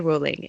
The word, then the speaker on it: Rowling: Rowling," and so it's ingrained in my head how it's pronounced.